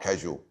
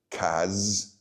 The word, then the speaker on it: casual: And your pronunciation is smart casual. Cas smart casual. Casual. Okay. So, it's more of a zed sound than an s sound.